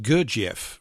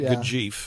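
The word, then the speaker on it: Gurdjieff: Or we It used to be pronounced Gerief around me, but I quite like Gajie.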